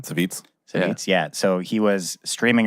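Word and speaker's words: Savjz: Savitz.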